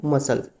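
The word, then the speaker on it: muscles: जैसे हम पहला वर्ड है हमारा मसल्स, मसल्स, इसमें जो आपका सी है, ये सी क्या हो जाएगा, ये आपका साइलेंट हो जाएगा, इसलिए बोलेंगे मसल्स, MUSUL, मसल्स।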